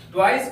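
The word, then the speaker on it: toys: का प्रयोग किया गया है इस एस का उच्चारण ज के समान होगा ट वाइस का अर्थ होता है खिलोने प्यारे बच्चों अब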